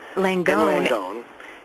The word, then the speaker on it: Langone: Paul Singer, Ken Langone, is it pronounced? Langone.